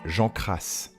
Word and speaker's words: Jean Cras: chouchou il s'agit de jean gras ou si on le prononce à la bretonne jean cras alors était-il d'abord officier